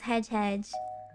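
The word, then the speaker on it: hej: say hi, which is hedge. I don't know how to pronounce it. Hang on, let me check. Oh! You don't pronounce the J. Oh, you know what? Okay. Because J's in Swedish are Y's.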